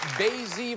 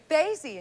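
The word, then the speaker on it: Basye: And Donna, you are from Basie, Virginia. Basie, and you pronounced it correctly.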